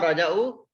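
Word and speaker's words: رجعوا: And this alif, we call it aliful vikaya. We write it, but we don't pronounce it. Ma raja'u, no, they did not return.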